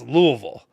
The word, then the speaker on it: Louisville: there we go now you know how to pronounce the city it's Louisville say it like you got a mouthful bourbon